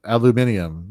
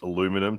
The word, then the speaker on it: aluminium: I say here in the States aluminum to avoid conversations, because otherwise get, oh my God, are you from England or something? I'm like, no, you're pronouncing it incorrectly.